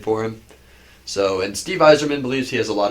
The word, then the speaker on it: Yzerman: I would say when you hear his name pronounced, you would never guess it's with a Y. Yeah, I know. Like every time I hear Like you the say it, I'm spelling like of that it? just doesn't sound right. Does not sound the way it's spelled. You think it'd be like Weiserman?